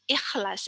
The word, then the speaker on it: ikhlas: And then manjur, efektif, bangkai, ikhlas. Ikhlas is like it's on your throat, ikhlas.